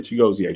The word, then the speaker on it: Chigozie: It's really Chigozie. The IE is like an EA.